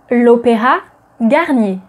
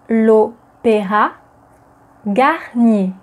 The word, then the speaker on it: L'Opéra Garnier: So, opéra is a masculine noun in French, and as it begins with a vowel, the definite article that would precede it is l, not le, but l. L'opéra. L'opéra Garnier. So what about the Opéra